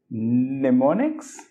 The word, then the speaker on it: mnemonic: I have my own mnemonics mnemonic mnemonic okay yeah so you can kind of forget that first M in the word mnemonic it starts with an and in pronunciation okay okay so yeah I